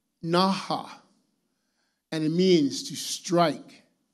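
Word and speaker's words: נכה: The Hebrew meaning for smote is pronounced naha, and it means to strike, to hit, to beat, to slay, or kill.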